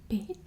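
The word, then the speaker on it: bed: house then we have beat it's spelled the same way in english and in afrikaans um why you pronounce the d has more like a t sound um and yeah it's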